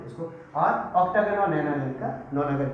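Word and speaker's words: nonagon: और 9 का नाम होगा नोनागन, नैनो बोलते हैं बहुत सारे लोग, नोना NONA है स्पेलिंग, नोनागन।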